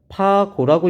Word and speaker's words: 파고: 여기서 배우진 않지만 파고라고 읽어요. 파고.